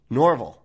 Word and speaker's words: Norval: It's Norval? Norval, of course. Yep. That of course I'd mispronounce that.